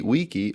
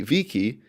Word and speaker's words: vici: Now, whether you pronounce it wane, weedy, weaky, or vini, vidi, vici, it's translated as I came, I saw, I conquered.